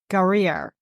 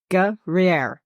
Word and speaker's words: Guerriere: encountered the British frigate HMS Guerriere. I put it in a pronunciation code on that. I hope I said it correctly. Guerriere. Gruyere. That's- Kind of like the cheese. Google told me Guerriere.